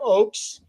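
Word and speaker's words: Ochs: concerts yeah so so this is Jeff Oaks um but his last name is is spelled o-c-h-s you you if you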